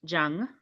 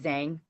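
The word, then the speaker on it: Zhang: Um, Jang um is the uh Mandarin pronunciation. Um, the Americanized is is Zang. And and much more known. Um, I I actually have had people correct me and say, "Oh, you mean Zang."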